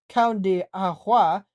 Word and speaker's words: Cão de Água: The breed is known in native land as the Cão de Água, pronounced Cão de Água, which means dog of water.